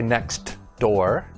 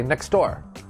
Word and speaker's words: next door: when the sound disappears you see a t or a d in a word but we don't pronounce it clearly for example the first one is next door but we don't say next door we say next door